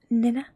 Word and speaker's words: nenä: And nose is nenä. Ne. Na. Ne. Na. I know the vowels in Finnish can be confusing, but that is how you pronounce it. Ne. Na. Nenä.